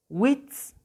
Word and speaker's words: witz: La palabra witz, witz. La I también se pronuncia muy simple.